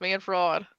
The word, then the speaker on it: Manfred: You got the name wrong. It's Manfred.